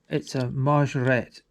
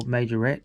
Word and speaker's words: Majorette: It's a Ford Escort RS 1800, so it's a majorette or majorette, depending on how you want to pronounce it.